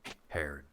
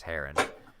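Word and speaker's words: Hera: you can call me hair which is but it's actually oh the Greek pronunciation is heron I am Roscoe we've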